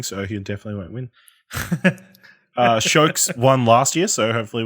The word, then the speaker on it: Sjokz: because it's spelled SJOKZ, and if I didn't know how to pronounce it properly, I would probably fuck it up too, to be honest. So, but it's just Shokes.